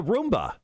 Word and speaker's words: Wroomba: Roomba to release the Roomba. They just added a W in front of it. The W, according to them, is silent.